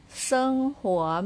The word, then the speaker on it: 生活: with the second tone put above letter O, pronounced this way. He uo, huo, huo, huo, huo, going up. Huo, sheng huo means life.